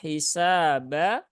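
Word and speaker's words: حِسَابًا: hi ya hisaba hisaba sinnya Ada Alif setelah fathah maka dia dibaca Dua harakat nah kemudian di sini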